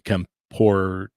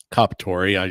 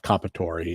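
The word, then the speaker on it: Comperatore: taking a gentleman's life, Corey Kampor, I can never say his name. Comparatori. Yes, thank you. Kapatori.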